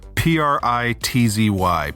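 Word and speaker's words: Prizzi's Honor: Think of it in your mind. Pritzy. Pritzy. That's how... Pritzy. Oh, there's like a T in it.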